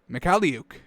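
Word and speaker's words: Mykhailiuk: mahik luke leah luke they break down his name if i click on it give me the frenetic the phonetic sounding mick heliuk mikaliuk that's how it's pronounced folks learn it start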